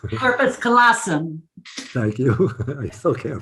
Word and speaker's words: corpus callosum: Corpus callosum. Thank you. I still can't pronounce it. The colossum part I got, but what's the first one? Corpus. Okay. I'll have to visualize. Like corporal, corpus, corpus.